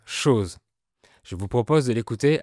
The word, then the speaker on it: chose: Et la lettre O se prononce OU, comme chose pour dire chose.